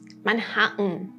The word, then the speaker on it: Manhattan: We use it when there is T, then vowel, then N, like Manhattan.